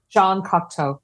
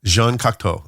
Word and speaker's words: Cocteau: Jean Cocteau. Jean Cocteau.